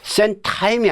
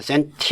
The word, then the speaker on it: centime: 이것 은 "centime" 이지 "cent-time" 이 아닙니다 .